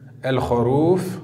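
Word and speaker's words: الخروف: Lettre suivante, la lettre kha, comme dans le mot el-kharouf. El-kharouf, le mouton. La lettre lem est porteuse d'un soukoun. On écrit la lettre et on la prononce el-kharouf.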